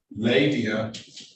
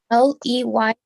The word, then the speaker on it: Leyva: Lavia. Ms. Lavia, her name is spelled wrong. Your name is L-Y-V-A? Leyva, yes. Leyva, right? Yes.